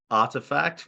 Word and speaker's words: RTFKT: Yeah, so it's Artifact, which is spelled Uh-huh. RTFKT. I can Mhm.